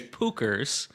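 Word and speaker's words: Puchers: I was just going to say it's Pookers and it's P U C H E R S.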